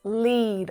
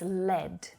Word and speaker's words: lead: come across it right you'll hear it pronounced lead often but lead is also a metal it's a noun and so when it's used this way the pronunciation is lead and it used to